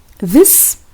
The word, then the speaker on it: this: So one with short E and the other one is with long E. This and these.